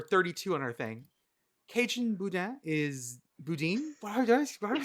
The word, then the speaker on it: Boudin: Did I say it right, Boudin? It's Boudin, but yes, it's close. Boudin. Oh, did I put the emphasis on the wrong syllable?